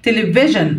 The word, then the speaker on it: television: Television interview S-I-O-N هنا تنطق جن.